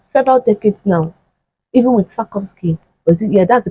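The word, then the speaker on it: Sarkozy: first time for several decades now even with sakovki yeah that's the pronunciation of sakovki even with him and even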